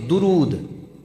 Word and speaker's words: درود: درود بولیا جاندہ ہے دال تے زبر، لیکن یہ فارسی زبان دا لفظ ہے دال تے پیش درود، یہ لفظ صحیح تلفظ ہے اس لفظ دا۔ اور درود دے نال